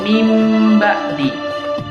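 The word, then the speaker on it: مِن بَعْدِ: Jadi dibacanya mim ba'di, seolah-olah huruf nun matinya itu diganti dengan huruf mim, ya.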